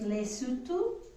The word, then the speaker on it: Lesotho: is a country and i understand it's pronounced lesotho but it looks like lei lei soto i think it's pronounced and then of course